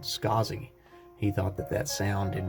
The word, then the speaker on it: Scaasi: was right here so last name is scazi s-c-a-a-s-i so the designer is a was born in 1930 named arnold isaacs but he actually reversed his last name to be pronounced and spelled scozzi he thought that that